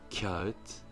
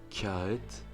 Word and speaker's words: kağıt: Et le dernier mot, kağıt, kağıt, qui signifie papier, on entend un très léger I aussi entre le K et le A.